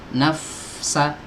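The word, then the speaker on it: نفسا: Ya, nafsa, nafsa sebelum pindah ke sin ini nggak boleh bacaan huruf fa ini diputus.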